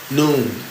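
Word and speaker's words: Nun: Noon. Pronounced noon as in like 12 o'clock noon. All right?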